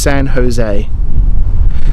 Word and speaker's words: San Jose: line before Brian Kerry it's pronounced San Jose always yeah I always forget